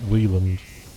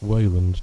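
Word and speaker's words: Weyland: Some characters pronounce it Wheeland. Maybe they all do, I don't know. fuck that. Wayland, not Wieland.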